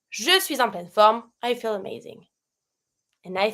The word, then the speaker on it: suis en pleine forme: Between suis and en, I do a little link. Je suis en pleine forme.